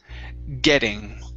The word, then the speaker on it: getting: tip for you is getting okay switch that that double t to a flap t getting getting good good all